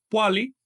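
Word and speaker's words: pohualli: El 20, como ya ustedes saben, se pronuncia poali, que quiere decir paquete o cuenta.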